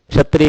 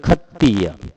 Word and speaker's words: खत्तीय: यानी आपको पाली भाषा में क्षत्रिय शब्द नहीं मिलेगा, क्षत्रिय की जगह खत्तीय, इस तरह से है।